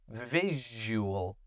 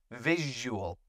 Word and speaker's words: visual: I have another word for pronunciation here. Visual. Okay, that's a fun sound. Visual. Visual. Visual cortex.